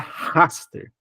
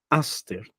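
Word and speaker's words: ἀστήρ: então ele é doce então não posso falar hter eu tenho que falar Aster na transliteração e o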